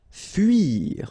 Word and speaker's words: fuir: Okay, it can be quite tricky, especially for English-speaking persons and Spanish-speaking persons as well. This U sound. Okay, so it's not OU, it's really narrow. It's U. Okay, fuir.